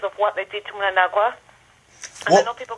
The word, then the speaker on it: Mnangagwa: But I believe now ZANU is at its weakest because of what they did to Mnangagwa. And what? I know people are going to hate me for pronouncing Mnangagwa's name very badly, but I'm sorry, I can't pronounce the man's name.